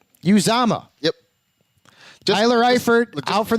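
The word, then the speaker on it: Uzomah: it you tell me this is how it's pronounced CJ use AMA use AMA use AMA yep Tyler Eifert without for the season we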